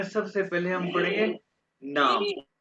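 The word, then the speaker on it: Name: Introduction में सबसे पहले हम पढ़ेंगे नाम, नेम। ये जर्मन में इसको नेम नहीं प्रोनाउंस करना, नामे।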